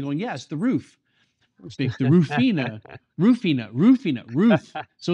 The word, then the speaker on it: Rufina: We talked about Rufina, not Rufina, because it's the more about pronunciation. Well, people think about Rufino, which is a large producer, actually Negociant.